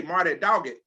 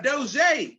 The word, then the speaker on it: Doggett: i know how to pronounce this one all right i used to say marty doggett okay but marty and diana doji that's right 11 applications smoking 10